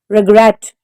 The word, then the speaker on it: regretted: Regretted. The stress is on the second syllable.